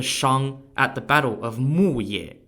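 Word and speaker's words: Muye: Joel defeated the Shang at the Battle of muayir spelled m-u-y-e and that brought the downfall of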